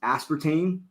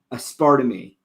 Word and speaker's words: aspartame: this whole thing where I used to pron pronounce aspartame aspartame awesome don't ask me why I think it's because of Spanish sometimes like my mind will go there where you pronounce like the vowels like each vowel right like and so like